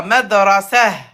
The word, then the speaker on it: مدرسة: Pas ha, c'est ha avec soukoun. مدرسة. Voilà. Madrasah.